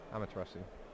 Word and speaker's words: Amaterasu: Yeah, the Rainbow Karibo I think is attached to, equipped to the Bujinki Amaterasu. Is that how you say it? Amaterasu. Amaterasu, sorry. Amaterasu, you got it right. Yeah. Amaterasu.